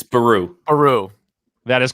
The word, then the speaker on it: Beru: Can you can you get the pronunciation correctly? It's Beru.